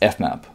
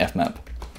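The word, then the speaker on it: fmap: this method in it that's pronounced F map so when you see this thing pronounce the F map and F map is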